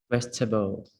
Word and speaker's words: vegetables: But I think we kind of cut the e out when we speak just vegetables. Vegetables.